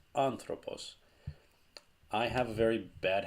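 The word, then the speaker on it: ἄνθρωπος: the alpha like this and this accent on top of this syllable tells you that the stress of the word goes on this syllable anthropos it's not under all boss it's not under a boss it's anthropos i have a very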